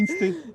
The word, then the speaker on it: Inster: ruralité et insté, si on prononce à la française.